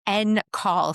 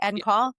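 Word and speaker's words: en caul: And just want to spell that for people if people don't know. N call. So, E N, right? C A U L, right? Like end call.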